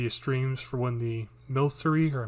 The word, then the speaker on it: Milcery: used to do the streams for when the Milcery or Milkery, however you pronounce it.